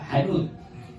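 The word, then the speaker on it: حنوط: Sebagaimana dalam kitab Minhaj bifathil ha hanut. Cara membacanya huruf H-nya difathahkan hanut.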